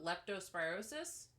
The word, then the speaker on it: leptospirosis: at this uh Le what do you call leptospirosis did I say it right yep okay you